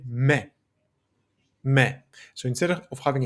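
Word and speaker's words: με: The word for me in Greek me is very very close in the way that it looks and it sounds to the English me. And in Greek we say me.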